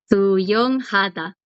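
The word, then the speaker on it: 하다: Suyong hada. Nadar. Suyong hada. Muy bien. Hada. Ahí el acento está como en el ha. Hada. Suyong hada. Hada suena un poquito Hada.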